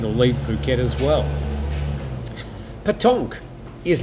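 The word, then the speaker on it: pétanque: saying it right botche hope I am patonk so that's how it's pronounced uh then re read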